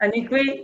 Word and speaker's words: Anikwe: Yeah, did I Did I Did I pronounce that right? Tell me the truth. Anyakwe, yeah.